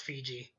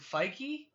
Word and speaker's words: Feige: You know, I don't think it's pronounced Fiji. Is it Feige?